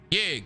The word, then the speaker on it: Ye: out of his mind let me say it right his name ye now they thought that